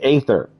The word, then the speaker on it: Aether: out for those crystals a is silent and Aether my good dude you know what I don't like saying ether I like saying ather Aether sounds better to me dang it it's Aether